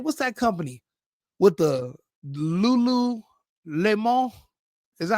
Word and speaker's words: Lululemon: What's that company with the Lulu Lemo? Is that how you pronounce it? Lululemon.